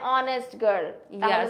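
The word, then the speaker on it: honest: হচ্ছে Norin is অ্যান অনেস্ট দেখো অনেস্ট সাউন্ডটা কিন্তু এইচ এর সাউন্ডটা সাইলেন্ট ওকে আচ্ছা চলো তাহলে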